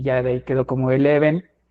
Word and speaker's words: Elheven: se nos hacía chido que la gente se peleara con la pronunciación del nombre de la Banda era muy interesante para nosotros Porque tampoco queríamos un significado tan literal incluso casi nunca llegábamos a decir ah somos leves no somos Eleven no solo tocábamos y